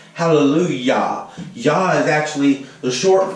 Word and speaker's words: Hallelujah: And Yah, when you say Hallelujah, you never notice it's spelled with a J, but you pronounce it with a Y. Hallelujah.